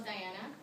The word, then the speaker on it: Dianna: piano but it's still diana so that's because the i is pronounced e in spanish and i'm actually fluent